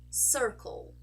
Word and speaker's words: circle: the most accurate pronunciation let's take the first word here which is Circle Circle you can hear the dark l sound in my throat my throat sorry Circle